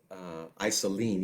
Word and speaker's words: Iceland: stuck with me so this is a song i celine even though it's spelled Iceland and I'm not gonna